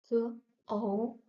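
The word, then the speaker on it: 口: Then we have k, o, k, o, ko. Third tone, ko, ko means mouth.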